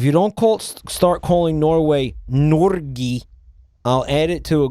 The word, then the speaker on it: Norge: Mike, if you don't start calling Norway Norgi, I'll add it to a Google docie. Norgi? How do you pronounce that?